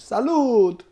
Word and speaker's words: Salud: Pronounced SALUD in English, which is like cheers. In Spanish, I believe.